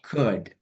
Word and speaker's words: could: Oke, yang pertama untuk L dalam kata could, should, would hilangin semua, Kak Alya. Jadi, could.